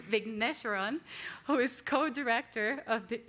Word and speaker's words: Vigneswaran: Vigneswaran, who is co-director of the Institute for Migration and Ethnic Studies.